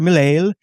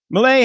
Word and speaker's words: Milei: The demonstration followed reports that Thiel has purchased a mansion there and met with President Javier Milei. How do you pronounce it?